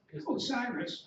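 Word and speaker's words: OSIRIS-REx: Osiris? Osiris.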